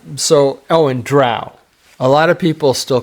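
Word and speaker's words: drow: it drw instead of D Dr elves d d r o w Dr yeah and by the way it was confirmed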